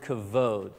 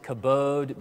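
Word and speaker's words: כָּבוֹד: Well, the Hebrew word for glory is actually the word kavod. So you may have heard some pronounce it kabod, but I like kabod because when I hear kabod, I think of Kubota tractors, and that's just confusing right off the bat. So kavod. Now, kavod is kind of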